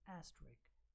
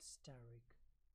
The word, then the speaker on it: asterisk: This is asterisk, not steric. I have heard many people pronouncing it the same way, steric.